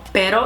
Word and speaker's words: perro: this and I think the easiest way is just to take two words for example that are spelled very similar except one of them has an extra R and it will be fatal to say but versus better to say dog so perro is PE ro versus